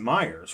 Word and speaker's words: Meijer: Some may say, I had a guy used to tell me, Nelson, say it with me, it's Meijer, it's Meijer. No, it's not. They pronounce it Myers. When you go in the store, it's Myers.